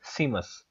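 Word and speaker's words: Saeima: answer हमारे पास है सीमस एस ई आई एम ए S spelling ये है लेकिन इसको प्रोनाउंस डिफरेंट किया जाता है तो आपने याद रखना है कि लाटविया का जो पार्लियामेंट है उसको सीमस कहा जाता है नेक्स्ट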